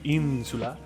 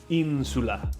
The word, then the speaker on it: insula: able to to clarify in sula as opposed to insula there you go the in is stressed great great feedback insula in sula meaning island